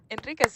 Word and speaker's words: Enriquez: Did I pronounce that correctly? Enriquez, yeah, you got it.